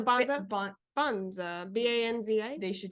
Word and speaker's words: Banza: Bonanza or No, Banza.